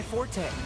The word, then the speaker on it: forte: meant to be my forte I think that's actually supposed to be pronounced report that was the original pronunciation but everyone says for it's a noun so we've said before